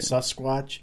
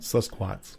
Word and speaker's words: Sasquatch: They had the sus right. Huh. But the squatch was quats. Quats. Like Sasquats.